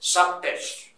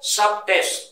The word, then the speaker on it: subtests: Yes, you have four subtests. These are tests. Occupational English Test. This test has four subtests. Sub-tests, hyphen. B, any word ending is silent. So it is not a sub-test. Sub-tests. So you have four subtests.